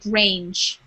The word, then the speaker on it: grange: And this word I just wanted to say, that's called grange. So it has a Soft thanks. G. Grains. Hard G and a soft G.